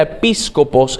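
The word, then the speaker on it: ἐπίσκοπος: De hecho, la palabra obispo significa episcopos, o sea, se pronuncia episcopos en griego y literalmente significa jefe, guardián, inspector o vigilante.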